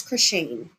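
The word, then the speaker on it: Khryshshane: And then you go to the pronunciation in the post and they say pronounce Croine.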